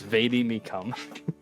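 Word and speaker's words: vade mecum: baby means that's what that's how you pronounce it it's vadi me come they become these nuts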